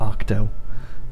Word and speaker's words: OKTO: And I think I'm going to be sending a OKTO, or I guess you would pronounce it Octo, because it's an octagon.